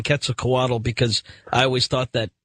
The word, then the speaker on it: Quetzalcoatl: this is Ian well I'm getting ready to change my pronunciation on this because Daniel Pinchbeck says when it comes to the return of Quetzalcoatl we have to get the L out of here if you will and